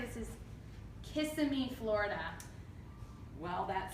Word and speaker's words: Kissimmee: But I would say this is Kissimmee, Florida. Well, that sounds like some sort of invitation to the good people of Florida. It's Kissimmee. It's actually Kissimmee.